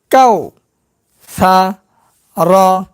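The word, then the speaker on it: كوثر: করলে উচ্চারণ হবে কাউসার কাউসার একটু পর হবে। কেন পুর হবে? যেহেতু র আছে এখানে র এর ডানে জবর আছে। এই কারণে পুর করতে হবে।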